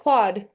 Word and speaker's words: Claude: My mom sent me I'm something still a about Clyde guy. still a Cloud guy. Yeah, I think it's Claude. I think it's Claude. Claude. Yes, Yeah, Claude. Yeah, yeah, can't yeah, say his name right.